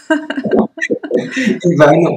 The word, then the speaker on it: Ivan: Bonjour Ivan. Bonjour Sandrine, merci infiniment pour ton invitation, pour ton accueil et tu as très bien prononcé mon prénom, ce qui est déjà rare Ivan et le nom de famille.